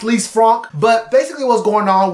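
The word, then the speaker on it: Lisfranc: prompt injury I think we're all calling it Liz Frank cuz we ain't French but it is pronounced least Franck but basically what's going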